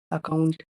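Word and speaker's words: account: इसीलिए इसमें ए का उच्चारण शुरुआत में छोटा आ होगा। अकाउंट A double C ओ यू एन टी अकाउंट में एक बार डबल सी आया है।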